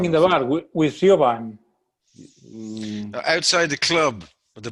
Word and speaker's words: Siobhan: Siobhan. We used to say, Siobhan, your knickers, your father is coming. It was a common joke in Ireland because Siobhan means like to put on quickly.